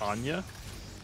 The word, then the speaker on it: Anya: I think it's Anya. Anya. How do you say it? Onion. Wait, instead of an, it's on. On. Like, I think it's like a UN. Imagine it's like a UN noise.